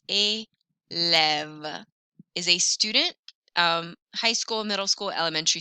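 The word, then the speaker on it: homme: soft and then an um an um don't pronounce the h a man anam repeated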